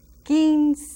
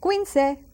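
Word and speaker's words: quince: hard one I think kin kin that Q the U and the I again so that U is silent kin not Quin but and we have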